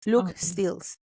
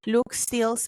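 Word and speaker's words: Luc Steels: Investigadores como Luke, es que es L-U-C, Stills, Luke Stills. Aquí lo pronuncio aquí con mi Spanglish. Luke Stills ha sido pionero en explorar la frontera entre la vida artificial y la inteligencia.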